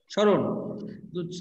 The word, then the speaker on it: স্মরণ: স্যার আমরা না স্যার কি বললাম স্মরণ স্মরণ বানান কি দন্ত সয় ময় র আর আর মূর্ধন্য তাইতো মূর্ধন্য স্যার আচ্ছা স্মরণ আমরা বললাম কিন্তু স এর সাথে কিন্তু ম ফলা আছে কিন্তু ম ফলার উচ্চারণ তো এখানে হিড অবস্থায় আছে বা উজ্জ্ব অবস্থায় আছে বা লুকা স্যার উজ্জ্ব অবস্থায় হ্যাঁ তাইলে এই যে মুখ ফলার উচ্চারণ আমাদের পূর্য অবস্থায় বা লুকায়িত আছে তাহলে আমরা বলছি এইটাই